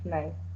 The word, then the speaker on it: knife: Grandmother tells Grandmother Lou tells Bob to not lick the knife. Knife. So K is not pronounced.